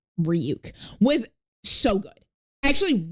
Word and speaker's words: Ryuk: when light Turner goes who's ryak and then ryuk like the whole scene of ryuk like manifesting and he goes It's pronounced ryuk was so good I